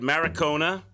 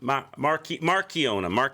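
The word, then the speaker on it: Markiona: We have to fight Maricona. Is that how you say it? Marchiona, not Maricona.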